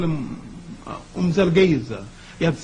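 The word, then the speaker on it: Mzilikazi: known in history as, the British call him Moselekatsi, and the Africans who can speak with the click language call him Umzelgeza.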